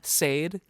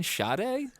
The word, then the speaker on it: Sade: really good who is this and she goes Sade and I instantly went I in I knew who she was talking about do you mean shade she's like wait what I'm like yeah Shade